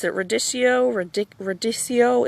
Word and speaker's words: radicchio: up now these i don't know how to pronounce it radicchio ridic radiccio it's radicchio okay it's ridic it is just ridiculous um